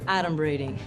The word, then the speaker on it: adumbrating: Okay, first of all, it's pronounced adumbrating.